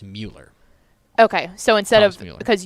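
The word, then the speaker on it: Müller: but there's an um over there so it's Mueller okay so instead of because usually U is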